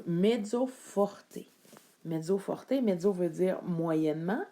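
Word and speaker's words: mezzo forte: l'espagnol entre autres euh le E va se prononcer comme un e donc medzo Forté medzoorté medzo veut dire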